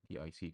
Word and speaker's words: TIC: brand called Left with Tick. Left with Tick, but I think they pronounce it as TIC.